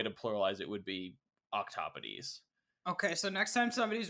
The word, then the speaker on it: octopodes: It could be octopuses, or it's pronounced, as far as I understand, octopodes. But it's spelled octopodes.